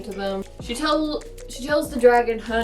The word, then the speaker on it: Drago: And the dragon's name is Drago. Pronounced Drago, not Drago, which is how my U2 teacher used to pronounce it.